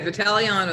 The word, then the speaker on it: Vitagliano: you did pretty good vitaliano the g is silent but that's really close